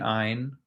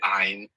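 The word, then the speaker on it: عين: You might hear ein. So let's talk about the pronunciation of this sound. Now, this sound is not an Arabic A.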